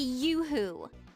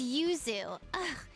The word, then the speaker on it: Yuzu: Don't call me Yoohoo. Okay, so I I presume this was an absolutely horrific butchered localization of Yuzu Chan, right? My name is Yuzu.